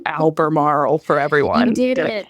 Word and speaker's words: Albemarle: at COA because you're going to have to pronounce Alber Marl for everyone you did it you did it